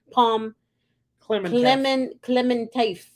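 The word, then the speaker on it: Pom Klementieff: Pom Clementif.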